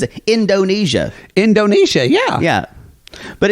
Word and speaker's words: Indonesia: Indonesia. Indonesia, yeah. Yeah. But it's just you're in American parlance, we don't accent in a 4-syllable word. We usually schwa.